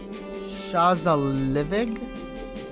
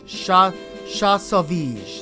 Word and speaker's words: Shasovij: She actually went looking for someone named Shazalivig. Here it is. Shasovij, actually, that's how you say it.